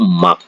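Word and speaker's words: 맑다: Dibaca tuh hek, kalau ini dibaca tak, kalau ini baca marak ya, tulisan marak tapi dibaca tuh mak.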